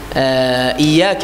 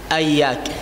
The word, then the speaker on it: إياك: هذا الخطأ الأول، كسر الهمزة، يعني فتح الهمزة، أياك. الخطأ الثاني الشدة، إياك يقرأ إياك نعبد، هذا الخطأ الثاني، الشدة لا ينطقها. الخطأ الثالث نعبد، إياك نعبد، هكذا يسكن، هذا خطأ ثالث. الخطأ الرابع يطيل الضم، إياك نعبد وإياك، يصبح واو. نعم، 4 أخطاء في هذه الآية.